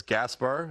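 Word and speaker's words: Gašper: as well uh playing against your brother as Gaspar is that right is that how you say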